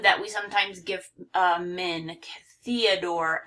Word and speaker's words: Theodore: I really like this one because we have 2 long O's. We have the, you know, it looks like the word the, but it's a long E here. Theodore. And this O is long because of the E at the end, but Theodore.